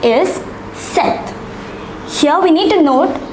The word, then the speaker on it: sept: The number 7 is pronounced as sept.